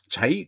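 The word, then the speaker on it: 嘉義: 강민경 7월 13일 자이 과학 단지 이게 그 GS 건설의 자이 아파트하고 발음이 똑같네요.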